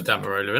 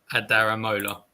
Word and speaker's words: Adaramola: No, it is Adamarola, isn't it? It just sounded. No, I swear. Oh yeah, no, sorry, I did say it wrong. My apologies. Adaramola.